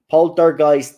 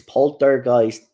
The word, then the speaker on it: Poltergeist: Poltergeist, no, it's Poltergeist.